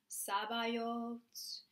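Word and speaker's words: Sabaoth: So some people, again, are confused how to actually pronounce it. It's Kadosh, Kadosh, Kadosh, Adonai, Sabayot.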